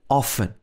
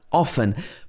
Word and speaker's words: often: pronounced soul castle and also in often this can sometimes be pronounced often but it can also sometimes be pronounced often so in this case there are actually two possible pronunciations so one to be